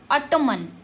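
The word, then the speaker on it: autumn: अगर एम के बाद में एन आ रहा है तो एन साइलेंट हो जाता है और एम का उच्चारण पहले हो जाता है। देखिए ए यू टी यू एम एन ऑटोमन। मन नहीं पढ़ते हैं।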